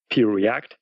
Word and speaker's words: Preact: One is Preact, so it's just the letter P, like Peter, Preact.